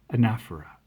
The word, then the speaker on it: anaphora: And it exhibits this literary device called, how did you pronounce it? Right, anaphora, which is deliberate repetition of the first part of the sentence.